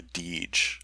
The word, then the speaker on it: D33J: I've been listening to a Deej a lot. The artist's name is spelled D33J.